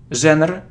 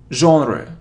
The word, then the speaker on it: genre: It isn't genre or genre. It's genre, genre, genre, genre. So, J and O, genre, genre, genre, genre.